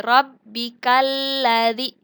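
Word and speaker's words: رَبِّكَ الَّذِي: Kalau bertasdid, lam bertasdid ini namanya adalah alif lam syamsiyah dan dibacanya itu dimasukkan. Jadi rabbikalladzi.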